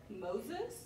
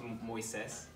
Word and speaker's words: Moisés: It's pronounced Moisés. Say that again. Moisés. Do you go with a nickname or... Hey, my name is just Moisés. It's Moses, but in Spanish, actually. M-O-I-S-E-S, accent on the E. Moisés. So just a little emphasis, that's all.